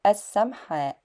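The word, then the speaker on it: السمحاء: And I think the printed word is correctly pronounced as as-Samha', and it is said as as-Sharia as-Samha'.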